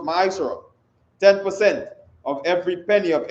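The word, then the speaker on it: מעשר: verses 8 to 10 means 10th in the hebrew and it's pronounced mysore 10 of every penny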